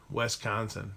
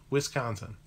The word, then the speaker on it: Wisconsin: pronounce it it's funny west concen yeah our Kansas is proper only Hicks a Arkans Arkansas with yeah Wis like whiskey Wisconsin my name says it's